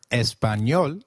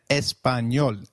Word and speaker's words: español: The letter A is pronounced as A, as in father. Did you notice the letter ñ in Español? This letter is peculiar to Spanish. It is pronounced as ni, like in canyon.